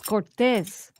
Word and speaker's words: Cortez: It's Cortez. Cortez. It's like an S.